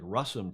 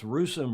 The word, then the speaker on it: Russom: are you h-s-a-m and it looks like russum to some but she says it's rusome rhymes with gruesome I'll never forget that